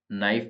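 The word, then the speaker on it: knife: है आइसलैंड नहीं है नाइफ तो नाइफ में के साइलेंट है लिसन के अंदर टी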